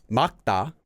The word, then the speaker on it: 맑다: can use this verb which is pronounced as makta makta means to be clear